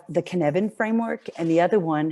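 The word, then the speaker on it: Cynefin: I always pronounced it Synefin. And then when I actually heard it spoken of, I reckon, okay, I got it. It's pronounced Kinevin, although it doesn't look that way. But it's a Welsh word.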